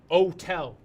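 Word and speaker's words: hôtel: H o te L in French we don't say H it's for the aesthetic French is a beautiful language you just have a at the beginning man Oh tell that's how you say it French see em when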